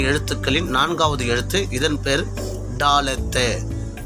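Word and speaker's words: דלת: இதன் பேர் டாலத்து. டாலத்து.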